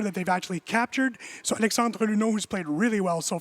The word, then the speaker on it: Alexandre Luneau: So Alexandre Luneau, who's played really well so far. Well pronounced, nice job.